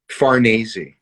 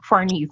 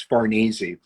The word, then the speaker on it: Farnese: It's Italian, so it sort of rhymes with Scorsese. I always say, just think of Scorsese. It's Farnese.